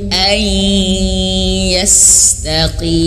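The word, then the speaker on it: أن يستقيم: Minkum kum ai. Nah masuk hidung ai, masuk hidung ini ai yastaqim. Nah ketika yastaqim tidak masuk hidung ya, ini perlu pelatihan ya.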